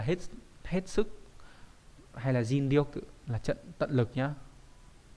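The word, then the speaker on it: 尽: cùng hay là hết hết sức hay là zin là trận tận lực nhá đọc là zin r đây là chữ thích chữ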